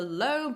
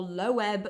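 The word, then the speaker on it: Loeb: his fragments from the lob or lowb Library I have realized that we as historians are quite opposite in how we pronounce it I've always said L A lot of people say lb but you can buy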